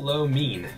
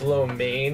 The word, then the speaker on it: lo mein: just solid too it was walk the vegetable lo mean that was good it's actually pronounced lo mein yeah is this low lane I know you're